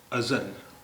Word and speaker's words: अज़ल: आज हम दो शब्दों यानी दो अल्फाज अज़ल और अजल की बात करेंगे। अज़ल देखिए, इसका तलफ़ुज़ या इसका प्रोनाउंसिएशन, इसका उच्चारण अज़ल है, जा नहीं है, अज़ल।